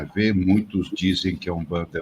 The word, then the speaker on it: Umbanda: Então, seria Umbanda. Então, é a pronúncia...